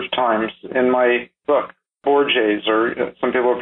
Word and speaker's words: Borges: One of these is by an Argentinian novelist who I cite a number of times in my book, Borges, or some people pronounce it Borges.